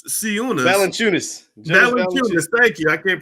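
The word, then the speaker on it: Valančiūnas: nba made last year his name is jonas balancious sioux valenciunis thank you i can't pronounce this but it's interesting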